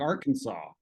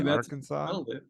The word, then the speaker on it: Arkansas: It's like Arkansas.